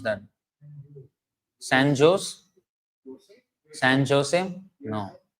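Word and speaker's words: San José: San Jose? No. Not exactly. San Jose. Jose. H sound.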